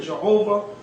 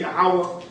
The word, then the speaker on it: Yahweh: But if you read in the Hebrew, it's going to say Yahweh, just like you have in this book. That this seems to be the true Hebrew pronunciation of the divine essential name, Yahweh or Jehovah.